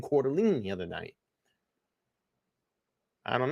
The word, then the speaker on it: Coeur d'Alene: Kaylee Gonzalez and Madison even he pronounced it Coeur d'Alene I said that everybody's like no it's quarterly is it quarterly in a Quarter Lane I say I was saying Coeur d'Alene but someone was saying Coeur d'Alene the other